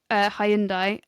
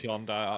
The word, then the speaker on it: Hyundai: It's Hyundai, actually. Because then you watch American adverts, it's still Hyundai, but then apparently for the UK, it's like, oh, no, you're saying it wrong. No, it's Hyundai.